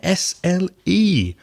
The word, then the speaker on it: isle: in passio and Isla that S is silent so I'll move on